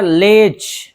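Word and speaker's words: ledge: इसी तरह लेज, लेज, छज्जा।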